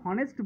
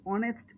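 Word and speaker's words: honest: খেয়াল করে দেখো, আমি কিন্তু হনেস্ট বলছি না, বলছি অনেস্ট ম্যান। তাহলে এইচ এর উচ্চারণ এখানে হচ্ছে না।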